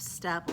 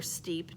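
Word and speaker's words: steppe: you the definition of step or steep depending on how you want to pronounce it if you want to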